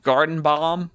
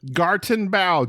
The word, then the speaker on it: Gartenbau: Gartenbau? Gartenbau. Spell it. Gartenbau.